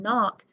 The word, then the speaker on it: knock: in running and no as in knock but it's spelled with a k in okay so let's get